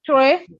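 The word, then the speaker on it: très: Tre grav. Tre. No. Tre. Very is tre. Very Okay. is tre. Very Like this. is tre. Uh, Very is tre.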